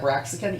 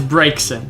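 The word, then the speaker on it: Braixen: I still keep pronouncing that Braxican, even though It's there's not. no K in that word. Exactly. But it's because it's Finnegan. And so I'm like, well, Finnegan, it must be Braxican. And it's not. And it's not. And It's- I'm just like, fuck. It's Brakeson.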